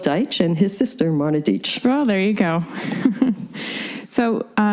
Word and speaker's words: Deitch: And when I was in New York, and people always mispronounce the name, I remember someone once pronounced my name as Marna Deitch. And I looked at him and said, well, you might be right, but you're wrong. It's Deitch. But people always also mispronounce it as Deitch.